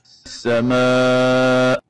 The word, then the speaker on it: السماء: So if I stop at the word as-sama, I don't pronounce as-sama. The Hamza is not pronounced, and I say as-sama. In that case, this is wrong. And the right way of pronouncing it is, as we hear from Sheikh Al-Husari, السماء. as-sama. So the Hamza should be pronounced.